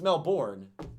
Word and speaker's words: Melbourne: saying Melbourne for the longest time well it's Mel board but that but we're not saying it correctly